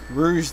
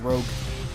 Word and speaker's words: Rouge: a Master Emerald Shard until Rouge oh Rouge Rouge the Bat fatty bat batty bat batty bat